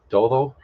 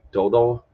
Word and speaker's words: todo: He pronounced it like dodo, which is a little harder D. The soft D, the sounds like the English TH in Spanish. That's recognized as a D sound.